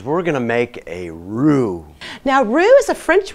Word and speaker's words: roux: I've melted some butter, boys and girls, because we're going to make a roux. Now, roux is a French word. It's spelled R-O-U-X, and it means making a paste out of butter and flour to help thicken.